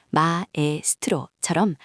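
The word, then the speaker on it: maestro: 예를 들어 마스트로는 마에스트로처럼 아와 에가 각각 발음되죠.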